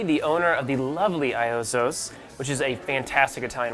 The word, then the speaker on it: Iozzo: Well, in the U.S. we say Iozzo's. Okay, Iozzo's. Iozzo's Garden of Italy. And in Italy we say Iozzo, because there's no really I in the Italian language.